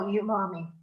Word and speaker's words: umami: Cathi, how do you spell umami? It's There he spelled, is. and who asked that? Lori. Okay, Lori, it's spelled and it's set.